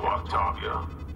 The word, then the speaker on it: Octavia: And it's pronounced Octavia. Why don't you come out peacefully? Why don't you bite me? Your cousin Joanna is already on the shuttle, Octavia.